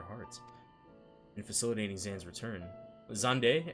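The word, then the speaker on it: Xande: in facilitating xan's return zande actually isn't it pronounced zande zand's return Amon provided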